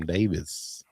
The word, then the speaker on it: Davis: I was watching one of his videos and he said Adam Davis. Okay. Davis, not Davies. We may have been pronouncing it wrong, but he's a great guy.